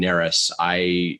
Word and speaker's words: Narus: It's spelled Narus. That's N like Nancy. Ryan Narus.